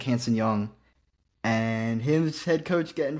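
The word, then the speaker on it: Hansen Yang: Hanson Young is how you say it.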